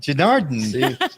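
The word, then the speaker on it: Janardana: Oh, Janaradna. Janardhan, with She us.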